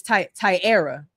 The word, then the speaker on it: Tyara: You right, Tyra. And I gotta say, I know I just said your name wrong. It's Tyara, because I never actually said that out loud.